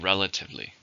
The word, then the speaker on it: relatively: and it's an adverb how many syllables in the word relatively for stress in the first relatively the audience was